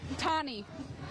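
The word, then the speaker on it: Tahne: Tonnie. Can you spell that for me? T A H N E. So, Tonnie, uh uh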